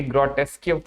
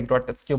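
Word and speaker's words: grotesque: Distorted आपको पता है ये ग्रोटेस्क्यू का सॉरी ग्रोटेस्क्यू बोल रहा हूँ, ग्रोटेस्क। क्यों इसे नहीं पढ़ेंगे? यूई मैंने क्या बताया, ये वाला पार्ट इसमें क्या है भाई? साइलेंट है।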